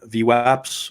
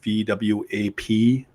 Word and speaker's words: VWAP: trade no different then view apps or VWAP depending how you want to pronounce it this is another way